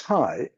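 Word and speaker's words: HAI: This is perhaps a new term which I pronounce hi like in a greeting.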